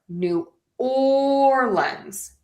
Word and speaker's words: New Orleans: So, for today, I say New Orleans. So, that's kind of what we're going to go with. And so, we are going to stress the or New Orleans.